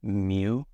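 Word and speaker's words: μ: The pronunciation on this symbol for micro is mu, M-U, in case I didn't say that before.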